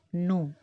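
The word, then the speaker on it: know: அடுத்து கேஎன்ஓடபிள்யூ, நோ, தெரிஞ்சுக்கிறது இந்த நோ. இதை கே எடுத்துட்டா என்ஓடபிள்யூவை நவ்னு நம்ம சொல்லுவோம். கே இருக்கிறனால கேஎன்ஓடபிள்யூ நோன்னு சொல்லணும். கேயும் சைலண்ட் ஆயிரும், டபிள்யூவும் சைலண்ட் ஆயிரும்.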